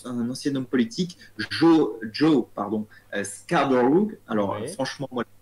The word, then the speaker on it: Scarborough: devenu, voilà, c'est un ancien homme politique, Joe Scarborough. Alors, Ouais. franchement, moi, la prononciation anglaise, c'est mort.